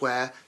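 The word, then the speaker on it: Ware: small town near London called where yes really it is called where that's how you pronounce it no way and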